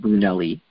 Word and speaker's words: Brunelle: And there are Italians with the name Brunelle, and they probably pronounce it Brunelli.